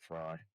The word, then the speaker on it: Frey: It's spelled F re, but I think that she pronounces it fry.